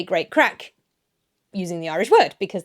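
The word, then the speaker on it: craic: Okay, I know how to pronounce this one. So, without a fada, crack, mirth or merriment.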